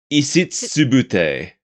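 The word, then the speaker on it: イシツブテ: Isitsubute. Because it's pronounced much quicker in its native language.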